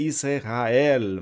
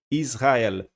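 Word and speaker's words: ישראל: Então eu não estou pronunciando o Shivá que está debaixo do sin. Se ele fosse sonoro, seria Israel, mas ele é mudo, Israel.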